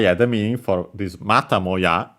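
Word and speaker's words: またもや: But yeah, the meaning for this mata moya, so actually accent on the ta, so low, high, and everything else low, means once again, yet again.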